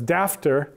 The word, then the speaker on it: daughter: which follows after now those two words were rhymes in Shakespeare's time daughter and author is how after was probably pronounced although in in upcountry places sometimes they they wrote daughter as daftar rhyming with after but in Shakespeare's London that probably was not the case it was probably daughter